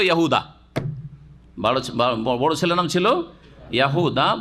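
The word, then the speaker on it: يهوذا: বড় ছেলের নাম ছিল ইয়াহুদা বা ইয়াহুজা, জাল দাল কাছাকাছি উচ্চারণ।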